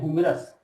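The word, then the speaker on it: humorous: ये देखिए, लेकिन यहाँ एच है और यू हो गया, इसको पढ़ते हैं हुमरस, देखिए हु से उच्चारण, हो का उच्चारण यहाँ पे आता है, इसलिए हो जाएगा ए हुमरस मैन, ठीक है।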